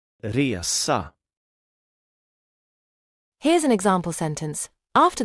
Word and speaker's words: resa: The short pronunciation is like the E in bed and the long pronunciation is more like the E in year.